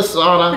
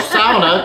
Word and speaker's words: sauna: let's go straight from the sauna or SAA cuz American mispronounce straight from the SAA